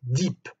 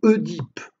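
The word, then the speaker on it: Œdipe: il est notable que le nom édip se prononce et diip et non e dip comme on l'entend trop souvent en effet le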